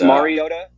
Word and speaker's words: Mariota: It's Mariota.